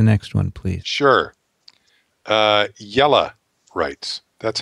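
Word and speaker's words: Jelle: l l e says pronounce like yellow but replace the o w with e as you pronounce it in yellow so that's yellow i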